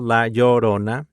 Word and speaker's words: La Llorona: Hopefully you can pronounce it now. Michelle, La Llorona.